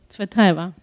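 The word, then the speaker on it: Цветаева: And you brought a text with you from Marina Tsvetaeva. Do I pronounce that right? Tsvetaeva.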